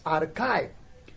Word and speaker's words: archive: The next word we have that is archive, and archive is spelled as ARCHIVE, archive, right?